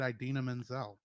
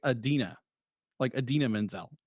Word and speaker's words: Idina Menzel: I said Idina Menzel. Idina, yeah. Okay, I've heard it both something like Idina Menzel.